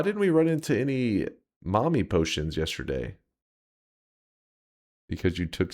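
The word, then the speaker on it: mämmi: Um, where for the days leading up to Easter, there is some kind of traditional Finnish food that's pronounced well here. There you go. Mommy.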